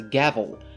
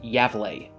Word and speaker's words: Gävle: going to refer to the town as a gavel even though apparently it's pronounced yeah bleh yeah I don't speak Swedish but whatever the